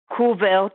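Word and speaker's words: Kuwert: the papers that describes it are Botche, which is spelled B-O-T like Thomas, T like Thomas again, C-H-E, Kuvert, which is K-U-W-E-R-T, and Knavelsrud, which is K-N-A-E-V like Victor, E-L, S like Sam, R-U-D, from 2011.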